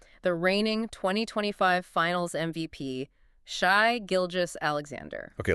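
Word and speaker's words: Shai Gilgeous-Alexander: the last few years, let's get the pronunciation right immediately. It is Shai Gilgis Alexander.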